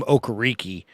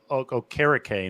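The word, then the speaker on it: Okereke: that it and now I always called him okariki but is it is it okay rickay or he changed his pronunciation from from Stanford when he was at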